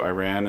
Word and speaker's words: Iran: North Korea and Iran I know you prefer that I say Iran I say Iran I've always said it Iran Iran Iran Iran I don't prefer that you say that's how you say it Iran I don't I don't